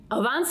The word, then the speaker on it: Avance: to all right and beyonce rhymes with avance there we go all